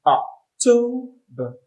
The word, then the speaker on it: October: The next is October. The stress is on toe, to. The second syllable, October.